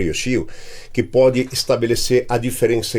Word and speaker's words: Yoshio: Lembra do brinquedo ioiô, pega a primeira sílaba. Quando você quer que alguém fique quieto, você fala Shio, tá? Yoshio. Vamos lá.